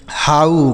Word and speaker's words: how: क्या हम इसे हो पढ़ेंगे? बिल्कुल नहीं। यहां पर भी गलत उच्चारण हो गया। क्यों हो गया भाई? आइए समझते हैं। ठीक है? तो इसको दोस्तों हम पढ़ेंगे स्लो। बिल्कुल सही है। लेकिन इसको हम हो नहीं पढ़ेंगे। इसको पढ़ा जाता है दोस्तों हाउ।